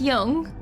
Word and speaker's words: Jung: as the collective unconscious is that the same thing pronounced Young that's wild so basically